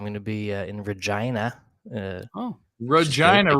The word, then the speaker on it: Regina: be in Regina oh Regina rhymes with fun ryes exactly I'm excited for